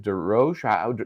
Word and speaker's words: Derosier: Is it D Ro? What is it? D Roer. D Roer. Okay. Or D Roa. With the Boston accent, it's D Ro.